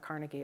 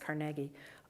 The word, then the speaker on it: Carnegie: And what I'm referring to when I say that is Carnegie, and by the way, not Carnegie, it's pronounced Carnegie.